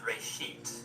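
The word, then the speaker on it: בראשית: from a Hebrew word it's pronounced Ray sheet and it just means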